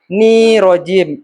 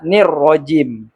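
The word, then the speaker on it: الرَّجِيمِ: kalimat taawud atau istiadah kesalahan-kesalahan umum yang terutama pada kata minait harusnya minasyaitan kemudian nirjim itu juga salah harusnya nirrojim karena di dua kata itu ada huruf atau disebut juga alif lam Syamsiah.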